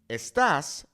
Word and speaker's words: estás: But notice how it is not saying you are, right? Estás versus estas. That is why proper pronunciation is very, very important.